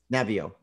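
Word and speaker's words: Naviaux: syndrome, which you've done some work with Robert Navio. Is that the correct way to say his name? Navio.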